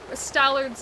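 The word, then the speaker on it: Stallord: it in chat, and I typed it as Stallard spelled like Mallard, and it was like, you do realize that it's Lord, like the Lord of the Stallmasters, not a duck.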